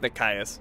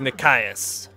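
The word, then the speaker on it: Nikaios: mount the chariot with Nicky us I think it's Nick Caius well whatever I've been saying it wrong it's Nick iose when was the last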